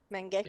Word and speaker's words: Menge: Menge.